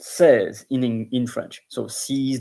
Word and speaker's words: seize: Then of course there is sees which is pronounced says in in French.